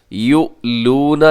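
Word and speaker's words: يؤلون: یؤلون، یہاں پہ یؤلون، یہاں حمزہ ہے، حمزہ کو جھٹکے سے پڑھا جاتا ہے۔ یؤلون، اگر ہم اس کے ہجے کریں گے تو ہم ایسے ہجے کریں گے، یا پیش حمزہ یو، لام پیش واو لو، آگے جو واو مدہ ہے، یؤلو، نون زبر نا، یؤلون، اور آگے من نسائہم،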